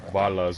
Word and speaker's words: balas: Balas, bullets. It's actually balas, but with Mexican... Oh, goddamn. With Mexican Spanish, it's often pronounced with a V.